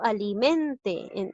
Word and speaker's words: alimente: Aquel que yo alimente. Aquí lleva la mayor fuerza de voz en la sílaba men. Ahora ponte a analizar. ¿Qué palabra sería? ¿Y qué sílaba se ubica?